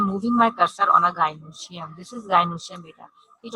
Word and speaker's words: gynoecium: Now, we are coming to the gynoecium. Okay, gynoecium. Again, I'm repeating. Please pronounce properly.